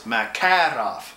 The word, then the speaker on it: Makarov: When the Russians have their accent in the center of every word, okay? So it's Makarov, okay? And yeah, roll your R's.